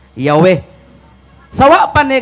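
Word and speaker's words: Yahweh: man ko sa encyclopedia the true pronunciation of the name yh wh was never lost several several early greek writers of the christian church testify that the name was pronounced yahwe sa wa pa ni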